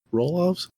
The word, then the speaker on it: Roloff: Mike, I'm gonna say it's like his name's pronounced like Detoff, but with a row in front of it. Mike Roloff.